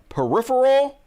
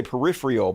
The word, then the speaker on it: Peripheral: I'm watching that Peripheral. Did I say it right that time? I used to say peripheral, but apparently you don't say it It's Peripheral.